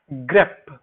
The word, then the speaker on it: grep: Now I want to introduce a new command which is called grep. This is how I pronounce it. So it is actually GREP.